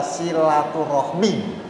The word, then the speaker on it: silaturahmi: Jadi silaturahim itu sudah menjadi bahasa Indonesia walaupun nantinya berbeda cara bacanya. Kalau dalam bahasa Indonesia silaturahmi ya.